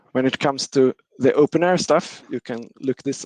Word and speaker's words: openEHR: then for documentation models we use openair or sometimes pronounced openhr also which have information models